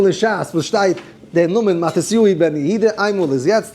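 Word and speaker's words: מתתיהו: Yeshaya, schreibt man Yeshaya, it's really Yeshayui, so the Matisyu is really Matisyui.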